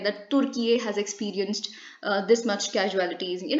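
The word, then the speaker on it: Türkiye: टर्की जो pronunciation है ये एंग्लोसाइज्ड प्रोनाउंसिएशन है जो बेसिकली ब्रिटिशर्स ने टर्की को दी। पर टर्की के जो प्रेसिडेंट है रेसेप तैयब एर्डोगन, उनका ये कहना है कि देखिए, डू not call us बाय टर्की because there is a Turkish pronunciation to it which is तुर्की।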